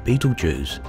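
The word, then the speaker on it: Betelgeuse: the largest in fact it's called Beetle Jews there are a number of other pronunciations of course of that star each of them equally valid now if you happen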